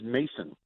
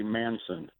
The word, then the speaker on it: Mason: life somebody mispronounces it my last name is mason m-a-s-o-n how do you mispronounce that everybody that i talk to says i say manson my first name is